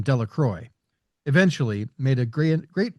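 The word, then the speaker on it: Delacroix: The villagers pronounced his name this name Delacroy.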